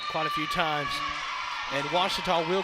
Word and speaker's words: Ouachita: wichita back in texas everybody pronounces it wichita but really it's ouachita washington how would you pronounce it it's washita baptist university get it right it's water